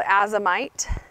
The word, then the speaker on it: azomite: okay so in my little bag here I'll spell it for you this is called azomite and it's a z om I'm not saying